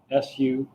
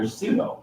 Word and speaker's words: sudo: well, but there's somebody who says SOO-DOH, and that's a suggestion. And I say I file it under sudo, PSUDO. And then Paul Johnson says no, it's quite different. And I say, how so? Silent P should be the same. And he says, it's the difference between, and now Paul's British, it's the difference between YOU and OO.